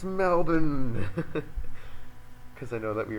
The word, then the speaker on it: Melbourne: He's like, yeah, I'm from Melbourne. And I was like, he was he's- actually Chinese too. yeah, and he's like, from Melbourne. I was like, it's Melbourne.